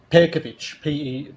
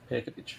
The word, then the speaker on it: Pejkovic: Pejkovic, Pejkovic, like the J is like pronounced like a Y. Pejkovic.